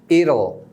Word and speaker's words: it'll: at well it Will vai ter só uma possibilidade que é o Idol Idol e três ct-to ET